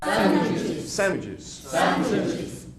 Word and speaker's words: sandwiches: Sandwiches. How many syllables? 3. Bayman, how many syllables? 4. Sandwiches. Where's the stress? First, second, or third? There. Put it up, the red. The second? Sandwiches. Okay.